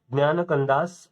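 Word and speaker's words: ज्ञानकाण्ड: ज्ञान कंदास ऑफ, ज्ञान कंदास ऑफ वेदास, ठीक है। ये ज्ञान कंदास के नाम से ऐसा प्रोनाउंस किया जाता है। स्पेलिंग लेकिन जे से शुरू होती है, JNANAKANDAS, ओके।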